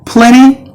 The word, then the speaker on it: plenty: rupees in my pocket and then plenty the T is silent and then counter counter